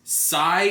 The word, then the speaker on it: Xi: name is that, and apparently I've always been pronouncing it as She Gundam or Kasi Gundam, but apparently according to the Gundam Wiki, it's Sai, like S-A-I, and I have no idea.